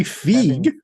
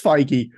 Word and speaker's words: Feige: that how you say you say figgy I think it's feige yeah Mark's having Mark's having